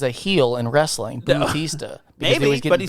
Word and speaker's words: Bautista: Bautista. Maybe, but he's not. Dave Bautista. I see what you're saying. Okay, you're not just mispronouncing his name. You're AU, making a former reference. No, it's AU. Bautista.